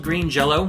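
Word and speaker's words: Green Jellö: jelly right uh which is they're actually called Green Jello but they had to change their name due to licensing it's still actually called Green Jello yeah they put the umlaut over the Y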